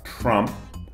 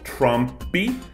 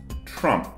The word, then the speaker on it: Trump: A forma mais básica é de pronunciar Trump terminando com a boca fechada. Então, não Trump, não Trump, mas Trump.